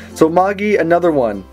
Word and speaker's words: Magi: So Magi, another one.